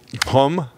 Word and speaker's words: Gqom: it but it's it's a music called pom which is spelled GQ om and it's kind of